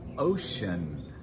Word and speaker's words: ocean: Finally, the EA can also be pronounced in a few words. And one that we know, ocean, ocean.